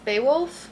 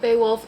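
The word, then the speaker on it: Beowulf: And then I also got be boowolf beaywolf averse translation. I think it's pronounced Beaywolf cuz I feel like I've heard of this before, but it says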